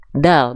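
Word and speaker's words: دال: yang saya kasih tanda dan menjadi huruf terakhir di ayat ketiga surah al-ikhlas namanya adalah huruf bukan bukan huruf da bukan huruf da nama huruf ini adalah huruf Dal bukan huruf Qalqalah namanya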